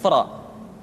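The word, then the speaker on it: ر: yadzakar yadzakar berikutnya adalah huruf ro diucapkan dengan menyentuhkan punggung lidah dengan langit-langit ro ri ru bar perhatikan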